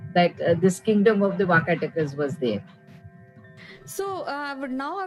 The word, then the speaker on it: Vakataka: So, tell us about this kingdom, Vakatas, if I'm pronouncing correctly. Vakataka. Vakataka is the name.